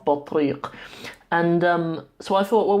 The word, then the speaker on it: بطريق: A penguin is a بطريق. بطريق. Spelled with ta, ba, ta, ra, ya, and qaf. بطريق.